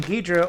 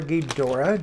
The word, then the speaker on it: Ghidorah: be fun all right king ghidra or ghidorah depending on how you prefer to say it i know people who are very passionate about both pronunciations and boy i wish